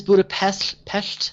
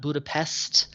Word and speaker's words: Budapest: And it is Budapest, not Budapest. Locals won't really give you a hard time about it, but they will know they'll know you're a tourist just by how you pronounce it.